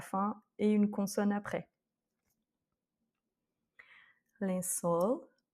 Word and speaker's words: lençol: Lençol. Donc ici, on a un L, donc accent tonique sur la dernière voyelle.